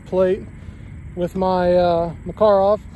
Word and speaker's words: Makarov: with my uh my makarov makarov however you want to pronounce it makarov is the actual pronunciation fires the 9 by